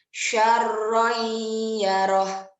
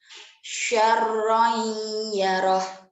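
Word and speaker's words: شَرًّا يَرَهُ: Contoh bacanya nih. Syarroyyaroh. Syarroyyaroh. Jadi ada dengung dan juga dileburkan. Lanjut pada idgham bila guna.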